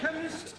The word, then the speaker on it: chemist: blame me k e chemist does not begin with a k it sounds like it begins with k CH H but that